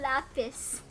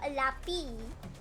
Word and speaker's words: Lapis: Apparently, I've been getting his name wrong for ages. Yeah, you call me Lapis. Like Lapis Lazuli, but it's Lapy.